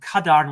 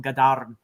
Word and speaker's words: Gadarn: Now, Cornwell does call him Cadarn with a hard C, but in Welsh you would actually mutate that C to a G. So it's Dervel Gadarn. And you got to roll your R's when you're speaking Welsh.